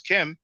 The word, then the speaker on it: km: I don't know about triple blackness, but the Gardner reference I6 glyph that we pronounce chem, the consonants K and M, it was used by people to describe themselves.